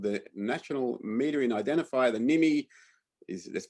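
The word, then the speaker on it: NMI: left is called the national metering identifier the nimi is that's pronounced nimi that's what it's called it's not really useful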